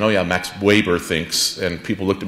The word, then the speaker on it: Max Weber: graduate students who knew how to pronounce Max Weber's name with a V and not a W. I walked around campus saying, "Oh yeah, Max Weber thinks," and people looked at me thinking, "What program are you in?"